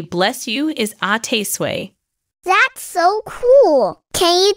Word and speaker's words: à tes souhaits: the French way to say bless you is ate sway that's so cool can you teach me how to say it properly Mommy sure the French people pronounce this word as ATT sway you've got it in American it is pronounced